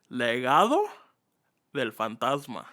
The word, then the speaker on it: Legado del Fantasma: and what else but let's give them a little Spanish lesson to help him out right you want to start off okay so how do we pronounce it man it's called legado Del fantasma all right legado Del